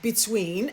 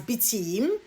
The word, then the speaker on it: between: So when you mispronounce words like between as beteem and profitability as povertability, yeah, it doesn't sound or look good.